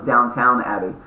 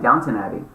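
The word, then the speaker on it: Downton Abbey: n t o n downt Abby and I go oh I've been saying it wrong for years my friend so you just said it so FYI everybody that's watching this it's not Downtown Abby maybe you guys knew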